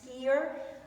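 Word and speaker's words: Skyr: are just everywhere for this is this is pronounced skier and it's part of another company and you'll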